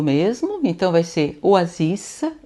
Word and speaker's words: oasis: Então vai ser oasissa. Eu pronuncio o S excepcionalmente.